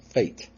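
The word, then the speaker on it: fete: it in these circumstances have the same pronunciation as fate spelled f-a-t-e is there evidence of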